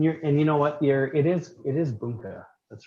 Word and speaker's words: bunka: It is bunka. That's right. I always say bunka. Yeah. Bunka is the right way to say it.